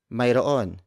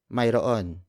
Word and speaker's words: Mayroon: The Tagalog way of saying yes, there is Mayroon. It's spelled as Mayroon. Mayroon.